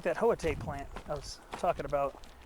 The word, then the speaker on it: Hoita: And it's not pronounced like it's not pronounced like it's spelled.